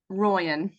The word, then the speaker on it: Royen: It's Royen.